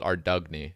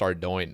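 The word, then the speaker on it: Ardougne: yeah, to call it Ardugny when I was a kid, Ardugny. And Ardoon, Ardugny, yeah. I think it's pronounced Ardoin now. That's at least what I've, I say Ardugne. No, it is Ardoin.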